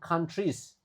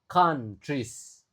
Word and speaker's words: countries: A-nya dibaca a, impacts on different countries. Nah, ini menarik juga di mana OU-nya dibaca A. countries. Oou-nya dibaca a lalu eh e-nya dibaca I aja.